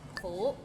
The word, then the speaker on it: 苦: 苦 is bitter. Maybe it's the second tone that's hard to pronounce. Like 苦. It's kind of like when you ask, is the parking lot full?